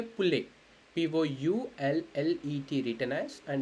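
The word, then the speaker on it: poulet: And if you want to say like hen chicken, you would say pule, POULLET written as, and it's spelled as pule.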